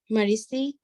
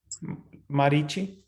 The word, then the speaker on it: Marichi: There are 50 varieties of wind blowing in space, and of these winds, the controlling deity, Marisi, is that how you pronounce it, Prabhuji? Marisi represents Krishna. Marichi.